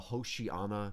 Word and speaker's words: Hosanna: course a lot of other languages as well hoshii Anna in Hebrew would be pronounced and it means save us save us